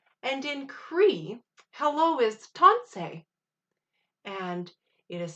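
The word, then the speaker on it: tansi: to say hello and in cree hello is tonsei and it is spelled t a n s i so we're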